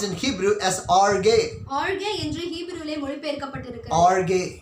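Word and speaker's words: ὀργή: The wrath of God is pronounced in Hebrew as arge.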